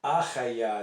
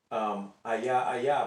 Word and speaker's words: Hayah: HAYAH is the name of God. There's a guy out there who says that it's Ayah, but he doesn't pronounce it that way. He says it's HAYAH.